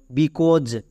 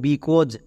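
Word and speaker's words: because: plus ও কো next S এস এর জন্য বর্গীয় য কারণ এস এর দুপাশে দুটো ভাওয়েল আছে তাই বর্গীয় য শেষেরই সাইলেন্ট তাহলে এর উচ্চারণটা কি হলো বিকজ আমরা একে উচ্চারণ করব বিকজ এখানে দেখো বর্গীয় যয়ে একটা শূন্য আছে মানে বর্গীয় জ এর উচ্চারণটা জ এর মত হবে যেমন বিকজ সো এই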